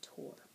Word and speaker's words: Thor: She pronounced it Tor.